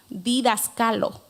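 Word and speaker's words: διδάσκαλο: La palabra maestras viene de una raíz griega, la cual se pronuncia didaskalo.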